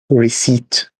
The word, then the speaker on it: receipt: you uh by battle receipt it's received receipt yeah you don't have to pronounce the p in this okay thanks uh is